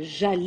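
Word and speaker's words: j'allai: Aller devient jal et on prononce ça comme e.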